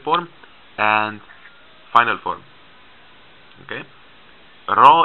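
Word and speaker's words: ر: and final form okay raw is like the sound of uh like in spanish it's not like a english ir or a french ah it's like a rolled r like that okay and the last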